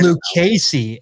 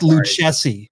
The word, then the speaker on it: Lucchesi: or is it Lucchesi it's Luke Casey and it looks like Luke Jesse I should have known